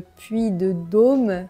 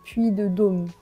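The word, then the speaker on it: puy de Dôme: de dô vous voyez avec l'accent circonflex on devrait dire bien fermé ha le puit de dô puit de dô mais on a tendance à prononcer le puit de dô donc très ouvert homme le puit de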